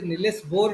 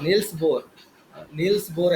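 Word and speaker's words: Niels Bohr: किंतु एक्सरे को एक्चुअली नीलेश बोर discover करिया कथा किंतु अनफॉर्चुनेटली करि पारलेनी तो रंटगेन पर कले हला जेति नीलेश बोर the most unfortunate scientist नीलेश बोर नील्स बोर एक्चुअली pronounce नील्स बोर ନେଲ୍ସ ବୋର୍ ଆକ୍ଚୁଆଲି କରିବା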